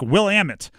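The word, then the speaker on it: Willamette: I've I've pronounced it will in the past and somebody's correct me. So I think Will Ammit is the way you're supposed to pronounce it.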